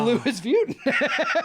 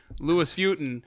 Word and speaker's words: Louis Vuitton: people calling and going i think i've been pronouncing it wrong because the headquarter says the louis vuitton okay so if someone if you're listening right